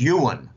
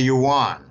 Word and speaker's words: yuan: and they say Jim the pronunciation is Ewan okay a lot of Americans call it the yuan I prefer just call